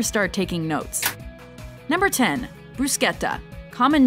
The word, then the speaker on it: bruschetta: it's an Italian authentic bruschetta recipe and correct me if I'm wrong with my pronunciation I'm pretty sure it's a bruschetta and not bruschetta referring to a popular